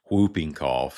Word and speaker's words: whooping cough: Whooping cough, spelled like whooping crane. A lot of us around here pronounce it the same way we do butt whooping, but it's whooping cough, or pertussis if you're fancy.